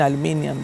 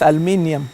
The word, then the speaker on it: aluminium: My supervisor, Professor Bruno, got up and told them all that, well, she's coming from the British type of educational background. So the spelling and pronunciation of for her is aluminium, not aluminum, as they say it, you know.